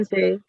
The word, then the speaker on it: sensei: Jadi kalau i setelah huruf e dalam bahasa Jepang itu memanjangkan huruf e.